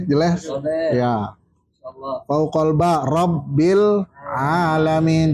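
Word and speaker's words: رب العالمين: Fauqal ba Rabbil alamin. Jangan Rabbil ngalamin. Nah, Rabbil alamin. itu makhrajnya salah. Rabbil alamin. Rabbil alamin. Iya. Rob gini dulu, Rob. Itu tekan dulu, Rabbil alamin. Jadi bacanya harus tegas itu.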